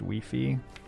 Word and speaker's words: Wi-Fi: beefy I can't work out if it's beefy or by five there's this thing with Wi-Fi we're in French it's pronounced wee-fee and it's like the